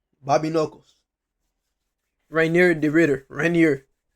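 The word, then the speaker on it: Reinier: Rainier. That's how you say his name, Rainier de Ritter versus Robert Whitaker, the Reaper.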